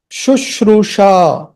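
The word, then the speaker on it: शुश्रूषा: The first sh and this sh. This is S with a top accent, and this is S with the dot below. This is sh. This is sha. The first one is sh. The first one is sh. It's not a retroflex. It's not a murdha. You're not twisting your tongue. Sh. This you are twisting your tongue upwards. Retroflex.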